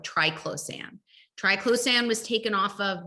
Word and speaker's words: triclosan: affect our health so those are endocrine disruptors triclosan and others i remember i used to and for years bought the toothpaste that had my triple sand am i saying it right is it triclosan triclosan yeah and i thought well it says